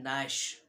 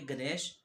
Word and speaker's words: gnash: हाँ ये गलत बोल रहा हूँ मैं, असल जो स्पेलिंग है वो है GNASH। अब आप बोलोगे गणेश या जिनेश, ये ना गणेश या जिनेश है, ये है नैश, GNASH।